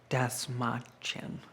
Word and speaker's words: Dastmalchian: Um, I never thought that I would get to be in a casket next to David Dastmalchian.